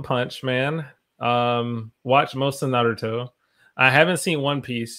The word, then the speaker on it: Naruto: Naruto, how do you pronounce that? Naruto, yeah, Naruto.